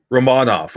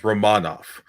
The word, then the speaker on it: Romanov: plays his plays well uh alexander uh it's romanov romanov i think that's how he wants it it's romanov i was that's what i was trying to